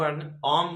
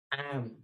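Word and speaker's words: am: ये एम बहुत लोक अम बोली पढ़ंती अम। ए वर्ड अम नुहे किंतु ए वर्ड को सठिक जदि आपण उच्चारण करबे ताहले एम। अम नुहे एम, एम।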